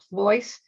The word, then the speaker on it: Pleuss: can also look me up on linkedin dianne ployce my last name ployce is spelled p l e u s s as